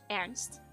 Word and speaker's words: Ernst: You know, I I do have one thing to say about Ernst, or as we pronounce the name in in Dutch, Ernst, because in Dutch, Ernst is a name that people can have.